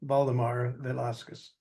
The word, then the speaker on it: Baldemar Velasquez: And first, let me know if I'm pronouncing your name correctly. Yes, you've done really well, Baldemar Velasquez.